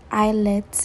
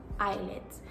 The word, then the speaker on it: IELTS: guys for some reason I kept on saying I let instead of IELTS I don't even know where that came from so just so you know